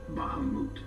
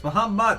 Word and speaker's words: Bahamut: To this day, no one knows what became of the blade god, Bahamut. No! Don't say it like this. Bahamut, there's nothing to make an oot sound.